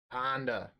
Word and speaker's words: Honda: The key is to say it like you're from Boston. Honda. Blasta. Just how they talk. Alright, so we're going to go Underground Sea into Thought Seize here.